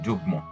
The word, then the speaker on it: যুগ্ম: এখানে গ এর সাথে মটা যুক্ত হয়েছে। এই মটা উচ্চারণ হয়েছে। চিন্ময়। এখানে ন এর সাথে মটা যুক্ত হয়েছে এবং এই মটা উচ্চারণ হয়েছে চিন্ময় বাল্মীকি এখানে ল এর সাথে মটা যুক্ত হয়েছে এবং মটা উচ্চারিত হয়েছে বাল্মিকি ইত্যাদি মফলা উচ্চারণের